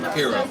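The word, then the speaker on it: Hiro: because it's H or but it's pronounced hero and then we're saying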